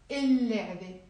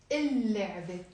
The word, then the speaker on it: اللعبة: If I want to say the toy, I'm not going to say لعبة. One of the lambs is not pronounced. اللعبة. ليه? Why? لأنه because لام حرف شمسي.